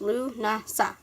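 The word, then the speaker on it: Lughnasadh: in Ireland they call Emeth the feast of Luna sod pronounced Louvre NASPA the feast of the Celtic God Luke occultists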